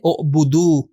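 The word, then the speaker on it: اعبدوا: یہ واو الف جب اضافہ ہوتا ہے تو الف کا تلفظ ہم نہیں کرتے، ہم تلفظ کرتے ہیں اعبدو.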